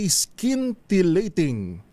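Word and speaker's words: scintillating: Ang ating word of the day skinating. Sa tagalog ay tama ba ang ating pronunciation?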